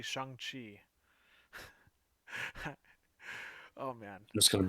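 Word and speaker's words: Shang-Chi: or they go after shangi sh oh yeah right I've been saying it wrong it's actually Shan Chi oh man just going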